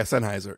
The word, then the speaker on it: Sennheiser: Sennheiser is that how you say it yeah Sennheiser yeah Sennheiser I go back and forth between